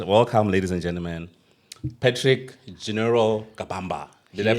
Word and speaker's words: Genirol: And welcome, ladies and gentlemen, Patrick Genirol Kabamba. Did I pronounce your pseudo, your rap name correctly? Yes, so it's pronounced general.